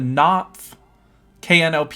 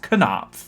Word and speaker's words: Knopf: not i knew it nope knopf just the first just that part of it but he it was prince actually pronounced kanap like the k was not silent and i was like